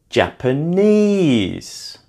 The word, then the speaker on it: Japanese: Japanese. Japanese is also stressed on the third syllable.